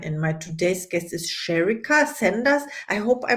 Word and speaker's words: Sherrika: name is Caroline and my today's guest is sherica Sanders I hope I pronounced your name right welcome to the show